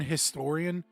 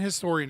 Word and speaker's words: historian: If you listen to if you listen to anyone that isn't well the H isn't silent in American English, right? But it is silent in other dialects.